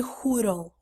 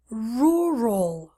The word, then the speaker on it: rural: especially if you speak Portuguese Portuguese a student's a huddle huddle wrong rural rural rural rural area but also because I